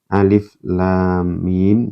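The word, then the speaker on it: الم: Kalau ada bendera, ingat nanti dibaca dipanjangkan.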